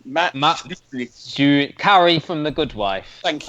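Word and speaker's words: Czuchry: resident uh now this stars and I cannot pronounce his name Matt Carrie from The Good Wife thank you though yeah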